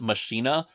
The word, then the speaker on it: Machina: quick though um so first off everyone I have heard including Billy Corgan pronounces it mashina which is this weird